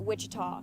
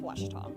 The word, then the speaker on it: Ouachita: university back in texas everybody pronounces it wichita but really it's ouachita washington washington how would